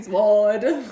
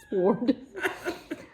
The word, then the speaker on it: sword: I say it every time. Sword. My brain sees the W and I was like, you must pronounce it. Sword.